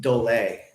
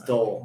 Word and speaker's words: Dole: how you say it it wasn't delay it was dole no yeah so dull